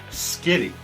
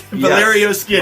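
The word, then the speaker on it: Valerio Schiti: but I found out that the name is pronounced Skitty is it skiddy for real so it's Valerio Skitty Valerio skitty's art on the book so oh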